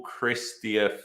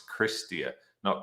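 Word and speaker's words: Chrystia: economic forum the honorable christian freeland is kennedy canada's god i've been saying her name wrong the whole time it's christia not christian oh well is canada's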